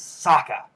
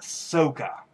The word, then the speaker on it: Sokka: times in the series his name is Sokka not Sokka my gosh I wanted to punch someone every time I heard somebody say Sokka he soaked up no just like with